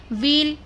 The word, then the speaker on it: wheel: व्हील, व्हील की spelling क्या है, WHEEL। व्हील में भी डब्लू को नहीं पढ़ा जाता।